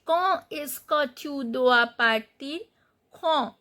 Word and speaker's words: partir: Partir, you know the r is the exception letter, so when we find r as a final consonant we pronounce. So partir.